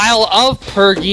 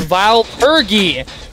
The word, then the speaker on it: Vile Purge: Vile purgy? Well, like the range that freaking vile purgy has is ridiculous. It's not vile of purgy, it's vile purgy!